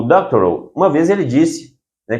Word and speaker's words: Doctorow: Doctoral, a pronúncia correta dele em inglês, o nome dele.